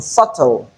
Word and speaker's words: subtle: In lamb the MB at the end is realized as M because letter B is silent and in subtle we don't have the B sound.